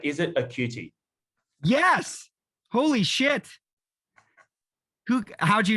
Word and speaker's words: Occhiuti: You haven't seen the reaction yet, but did we get the pronunciation of your name right? Is it Occhiuti?